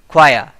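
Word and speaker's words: choir: ख्वाया। ख्वाया इसको बोलते हैं, इसमें आर थोड़ा सा साइलेंट रहता है।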